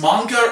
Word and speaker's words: manga: Now, is it pronounced manga or manga?